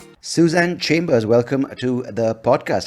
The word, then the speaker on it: Tsu Shan: when we first spoke it's pronounced suzanne and yeah yeah because